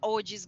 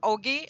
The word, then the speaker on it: OG: And then I'm very curious about what OG's gonna do as well, because every fucking day they're pumping. Okay, yeah. Yeah. Yeah. Should I pronounce it as faith. Ogi or OG? I don't. It's Oogie.